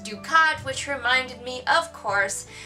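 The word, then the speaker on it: Ducarte: And she has a general whose name is pronounced Ducat, which reminded me, of course, of Gul Dukat from Deep Space Nine.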